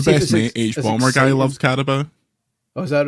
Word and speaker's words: Carabao: Is it Carabao? Oh, is that how you pronounce it? Carabao, yeah. Carabao. I've gone for a can of original Carabao, which I've never actually had before.